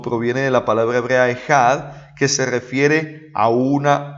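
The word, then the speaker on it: אחד: Miren ahí la palabra que, si la pronunciamos literalmente como hablamos en nuestro idioma, se pronunciaría echad, pero en hebreo la pronunciación es más o menos ejad, con J.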